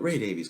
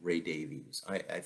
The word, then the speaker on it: Davies: we would call him Ray Davies III understand I think that in the UK and Diane Ward is on the line I think can correct me I think it's pronounced Davis in the UK but here in the